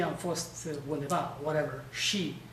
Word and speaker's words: și: We'll say, și am fost undeva, whatever. She is S-I, but it has this thing, so you have to pronounce it she.